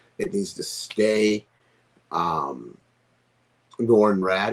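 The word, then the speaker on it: Norrin Radd: needs to stay um nor and rad is that how you say his name yes nor it needs to be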